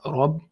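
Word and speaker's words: رب: So you have capital R here for heaviness, Rabb.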